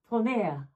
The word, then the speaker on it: Tourneur: Tourneur, I think, has how you pronounce it.